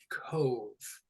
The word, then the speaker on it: cove: All right, cove. So this one's different, right? That O doesn't make the ah sound, it makes the O sound. Cove. And that E in English is silent.